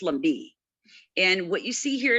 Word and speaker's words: Lumbee: So, we are called the Lumbi, and that's the way you pronounce it. Uh, you'll hear Southerners say Lumbi, but it's Lumbi.